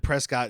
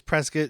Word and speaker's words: Prescott: She she was I said Prescott and she was like it's Prescuit.